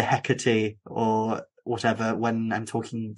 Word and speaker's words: Hecate: correct you and say you're saying heckerty wrong it's actually ikate and I was like